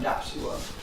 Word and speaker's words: DAPSI(W)R(M): the referees usually say, that's a horrible acronym, how do you pronounce it? So now we have to tell them in every paper we use the term DAP SeaWorld.